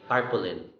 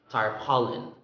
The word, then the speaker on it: tarpaulin: my experience is concerned i usually hear people say tarpaulin carpooling it's actually tar pollen star pollen the stress is in the second syllable tarpaulin tarpaulin and then